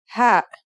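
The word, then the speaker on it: هاء: These two letters are ta and ha. Are you ready to write them? Then let's go. Let's start with our first letter H. This letter sounds just like the English H.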